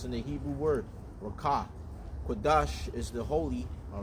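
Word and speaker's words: Qadash: Kodash is spelled Q-A-D-A-S-H, which is holy, all right.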